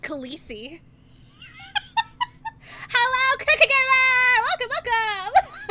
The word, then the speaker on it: Khaleesi: It's pronounced Khaleesi. It's pronounced Khaleesi.